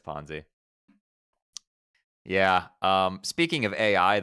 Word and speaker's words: Ponzi: And then ch it's pronounced ponzi. Yeah, that's what I said. I said ponzi scheme. Did I Did I say something else? Did I say ponsai?